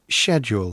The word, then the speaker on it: schedule: Schedule, 이거는 당연히 알고 있는 건데 영국 발음일 땐 Schedule.